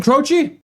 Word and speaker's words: Croce: Uh, more Jim Crochi.